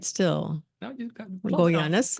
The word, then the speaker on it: Goyanes: No, you got Goyanes. Goyanes.